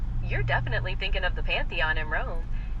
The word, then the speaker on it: Pantheon: You're definitely thinking of the Pantheon in Rome.